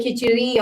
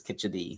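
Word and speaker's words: kadhi: Keri, but I think it's kad. I think it's a D, not an R. Right. It's a kit. Yeah. But there are there are people who who say kiteri also.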